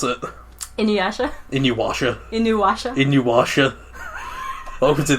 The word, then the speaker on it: Inuyasha: Inuyasha? Inuwasha. Inuwasha? Inuwasha. Welcome to the Inuwasha podcast, where I pronounce Inuwasha wrong for 20 minutes.